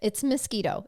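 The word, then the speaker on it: Miskito: wa's crew survived 16-year-old mosquito oh that's that's his name I'm not mispronouncing it oh I love it it's mosquito it's m i s k i t o it's mosquito mosquito that's so funny his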